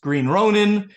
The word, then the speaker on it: Green Ronin: it on good authority the company's pronounced green Ronin green ronine I apologize to the principles at Green Ronin it's green Ronin so so I mean